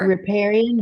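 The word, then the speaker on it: riparian: the waterfront property right um how do I pronounce it the r what is it reparan buffer reparan buffer yes so reparan buffer is an area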